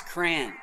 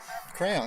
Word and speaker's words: Cran: Hey guys, it's Cran. Right, Crayon, that's what I said. Cran. Graham? What am I saying? You're saying crayon and Ryan is saying gram. It's cran.